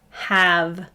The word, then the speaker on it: have: this first word is have it does not play fair we would expect that a to make its long vowel sound because there's a silent e but instead that a says ah have this next word is